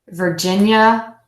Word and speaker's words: Virginia: yeah for gin yeah Virginia Virginia be careful not to let that I ate at the end sway you enter saying Virginia it's just three beats Virginia Virginia Virginia Virginia